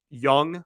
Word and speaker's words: Jung: a lot of question marks with Jung left young left sorry uh it always trips me up because it's spelled Zhang and it's pronounced young but uh you know the question marks around